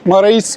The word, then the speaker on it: Marais: Bu Lömare nasıl okunuyor? Mare. L. Ben abi dün Heyfel'den dönerken o küçük şeyler var ya böyle bisiklet tarzı onlara sordum. Dedim Lamara'ya gideceğim anlamadı. Sonra Marais yaptı. Hangisi doğru? Marais.